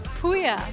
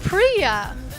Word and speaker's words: Pouya: name and i said oh my name is puya and she said oh priya and i said no it's puya she kept insisting that it's priya where i had to spell it for her and she looked at me weird a little and then finally she let me win the battle that my name is pouya so that tells you